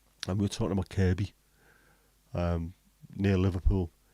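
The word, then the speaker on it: Kirkby: sound the same and we were talking about Kirby um near Liverpool k i r k b y pronounced kby but written KB and the reason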